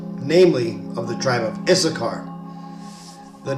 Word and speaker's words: Issachar: tribes of Israel namely of the tribe of isachar the name isachar is in Hebrew pronounced yashar and that basically means he is hired and